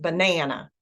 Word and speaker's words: banana: that word banana um the Nan in banana is stressed banana and but the other